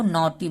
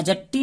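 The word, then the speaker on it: naughty: का मात्रा होगा नॉटी जी एच साइलेंट है तो इसको हमको नॉटी बोलना है और न जट्टी नहीं बोलना है ना हट्टी ऐसा करके कुछ भी जो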